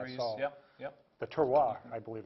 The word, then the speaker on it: terroir: The terroir, I believe it's called, You can definitely.